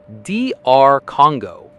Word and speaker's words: DR Congo: correct American pronunciation is DR Congo. Let's break it down into three easy syllables. DR, con, go. For the first syllable, you just say the individual letters for a medical professional, which is DR.